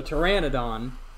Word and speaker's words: pteranodon: how to say it the correct way so pteranodon or at least i didn't think about correcting